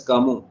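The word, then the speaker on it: Camus: is an essay critical essay written by Albert kamu we pronounce him as kamu okay to Kill a Mocking Bird is of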